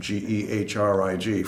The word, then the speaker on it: Gehrig: what about Lou Gehrig German named geh rij first baseman for the New